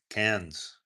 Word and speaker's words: Cairns: Cairns.